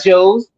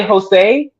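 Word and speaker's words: José: whose name is Jose, no one goes, "Hey, what up, Joes?" We say, "Hi, Jose." Like if they're fucking in England, then they better accept how it's pronounced.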